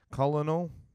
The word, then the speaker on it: colonel: Colonel. Oh, fucking no. I think that's pronounced colonel.